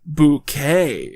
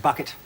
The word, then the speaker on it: Bucket: So sometime before the events of the series, she's apparently decided that it's actually pronounced bouquet. It's very kind of you to invite us, Mrs. Bucket.